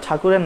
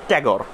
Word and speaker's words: ঠাকুর: আমরা তো ঠাকুর বলি, বাট ইংলিশে তারা আসলে ঠাকুর উচ্চারণটা পারে না করতে, ঠিক আছে? তো এই কারণে আসলে তারাই, তোমার মনে করো ব্রিটিশ যারা আছে তারাই নামটা ট্যাগর দিছে।